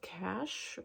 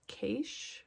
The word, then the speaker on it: cache: um this one is called cash or cache however you want to pronounce it c-a-c-h-e um she had